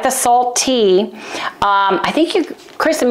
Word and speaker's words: saltT: Like the last T should be tall, so like it's a hard T pronounced, salt T, but I like the labeling.